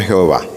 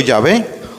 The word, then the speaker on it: Yahvé: en los ambientes católicos con la forma de pronunciar el nombre sagrado de Dios como Jehová. Hay que acabar con eso. Seamos fieles al texto original más antiguo, diciendo Yahvé o diciendo el Señor o simplemente diciendo Dios.